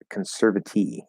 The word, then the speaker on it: conservatee: Now, why does that T get pronounced as a T and that is a flap D? Because it's not at the start of an unstressed syllable. Right, just like we say employee, that's the stress. Employer, employee. Conservator, conservatee. Right? So it actually goes into a T sound because it's stressed.